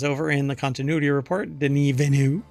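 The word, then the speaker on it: Denis Villeneuve: there's an entire phrase here that's missing director Den venu that is apparently how you pronounce his name or he pronounced his name or you're supposed to pronounce his name not Dennis Villano denu um believes Blade Runner 2049 could have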